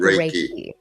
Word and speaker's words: Reiki: Reiki or Raiki, let's say it like Raiki Japanese.